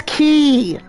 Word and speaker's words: quay: It's pronounced as key. Like freaking golden key from 15.